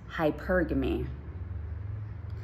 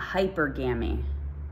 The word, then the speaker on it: hypergamy: you how to say this word okay it's hypergamy it's not hypergamy a lot of people are saying hypergamy it's